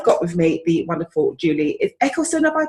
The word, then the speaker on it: Juliet Eccleston: So I've got with me the wonderful Juliet Eccleston, have I pronounced it right? That's right, yes, Juliet Eccleston.